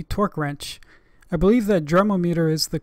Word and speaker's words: Dremometer: meter type D torque wrench I believe that derma meter is the correct pronunciation even though it I'm very tempted to call it a derm ometer even though this wrench is probably over thirty